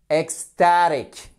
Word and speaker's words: ecstatic: Ecstatic. Exactement. Ecstatic. Ok? Ecstatic. Accentuation sur la première syllabe.